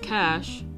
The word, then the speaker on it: cache: caching is often used a cachet pronounced cash a cache is placed